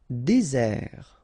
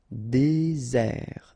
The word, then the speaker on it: désert: Désert. Okay, remember, final T not pronounced. Désert. And really this z sound just because you get one S between the two vowels. Okay, z. Désert.